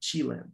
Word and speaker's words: Chilean: Some people will say Chilean with an accent in the first part of the word, Chilean, right? But I think the right way to say it is Chilean in English, yes.